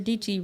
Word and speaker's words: Dietschy: Sarah Dietschy rhymes with Peachy, let you know she out in these streechies and she is with it.